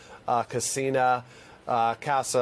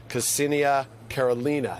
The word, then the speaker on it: Ksenia Karelina: Ksenia Kassa, I'll make sure I say her name properly. She is the American national, the dual national, Russian-American national, Ksenia Karelina.